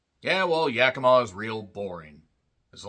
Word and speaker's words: Yakima: the not so small town of Yakima, not Yakima, Washington, which is in eastern Washington.